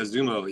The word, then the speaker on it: Xumo: Oh yeah, Xumo.